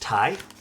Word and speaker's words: Ti: So, it's pronounced TI. Is it actually? Not TI, like NVIDIA TI?